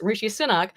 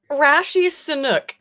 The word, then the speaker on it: Rishi Sunak: Rashi Sunak is how he pronounced it. Now look, come on, wait a minute guys, I pronounce shit wrong all the time, but I don't know how you got Rashi Sunak from Rishi Sunak.